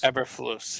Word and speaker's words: Eberflus: Eberflus. Eberflus, yeah.